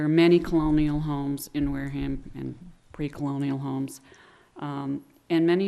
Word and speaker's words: Wareham: to worm thank you i say it the same way that you do but i was told when i ran for office that i had to learn how to say it differently so it's the ham whereum has a very